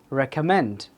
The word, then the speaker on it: recommend: Recommend. Third syllable.